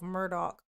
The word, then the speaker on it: Murdaugh: He called himself Murdoch, but it was spelled like Murdaugh.